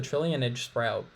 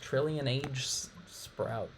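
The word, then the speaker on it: Trillionage Sprout: will be interesting okay this is the trillionaire sprout pronounced trillion age sprout well just having us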